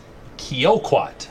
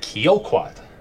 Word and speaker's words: Kioquat: Yeah, number 6 is Kioquat. That's how we'll pronounce this. Son of sports writer, who the second dam is Cabrini Hanover, so Wrigley bred, but it is Kioquat.